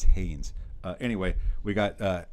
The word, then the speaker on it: Haynes: continually calling him Justice Hayes, a former Wolverine. Uh, he might want to learn how to pronounce the name. There is an N in it at the end.